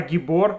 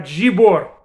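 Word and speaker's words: גיבור: But whatever the case may be, they pronounce Gimel with the dagesh as j, Gimel. So in Shmona Esrei, for instance, not ata gibor, ata jibor leolam Hashem.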